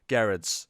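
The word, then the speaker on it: Gerads: Miracle number 11, obviously Mitch Gerrard's on the art as well. Sorry, Gerrard's. I should say Gerrard's. We know it's a hard G now. It's, Gerrard's.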